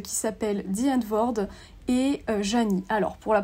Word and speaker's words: Zheani: entre deux artistes qui s'appellent Dian Ward et Janny alors pour la prononciation de nom je pense que ça va